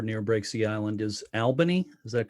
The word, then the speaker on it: Albany: that's how I knew yeah no no it's Albany and even more confusingly I went to high school in a place called Aubry which the spelling is very similar but um it is Albany is how we say it sorry I'm always